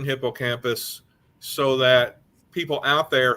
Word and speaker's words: hippocampus: fun of them for that one but it's hippocampus I'm sorry yeah but the thing is we